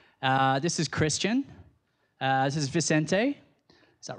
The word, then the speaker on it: Vicente: This is Vicente. Is that right? That's the right pronunciation, isn't it?